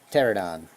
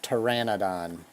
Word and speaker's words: Pteranodon: It's actually one of the better ones in quite a while, and that is the Pterodon. Or Pteranodon. My bad. I still pronounce some of these things like I did as a kid, and that's stupid.